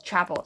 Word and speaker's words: Chappell: And you can't quietly listen to wait, it's not Chappelle, it's Chapel.